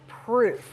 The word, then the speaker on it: Pruuf: So why the name proof? What makes And it's spelled P R U UF gourmet pudding.